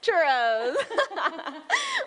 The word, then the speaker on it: churros: Get ready to roll your R's because we are featuring churros. Central Valley's going to school me this morning because I said churros.